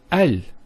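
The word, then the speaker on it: ال: point is with the AL of deafness that the hamster Russell is always pronounced so it's always ah Al bait Al Tamar and so on it's never UL it's never ill it's always l another session Bismillah now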